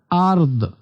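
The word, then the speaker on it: أرض: এরপর ওয়া মা ফিল আরদ, এখানে দেখেন আরদ, লাস্টে দটা হালকা উচ্চারণ হবে, অর্থাৎ আরদ, আরদ এমন।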